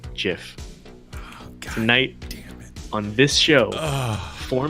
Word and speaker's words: GIF: and down so hey listen listen tonight it's pronounced jiff tonight on this show for me it's pronounced